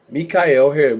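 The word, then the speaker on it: Mi'chael Harris: My Facebook is Michael Mikyel Harris rather Mika Harris which is spelled Michael but pronounced Mika by M I apostrophe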